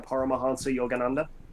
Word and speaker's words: Paramahansa Yogananda: It's a autobiography of a yogi, which is by Paramahansa Yogananda.